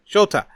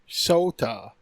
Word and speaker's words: Sota: Shota. Wait, it's Shota? Okay, fine. So, well, it's Sota.